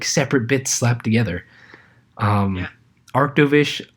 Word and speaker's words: Arctovish: Arctovish also being a water ice type where its name rhymes with Mish.